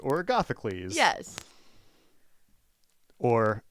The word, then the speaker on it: Agathocles: So this is just like tribal knowledge of like how to say Agathocles or Agathocles. Yes. Or, as Logan once correctly taught me to pronounce, Agot Hokels.